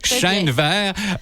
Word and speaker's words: Chênevert: D'abord, la belle visite, c'est celle de Chenevert. Est-ce que je prononce bien ton nom de famille? Absolument. Chenevert, qui est directrice des loisirs et de la culture de Saint-Damien.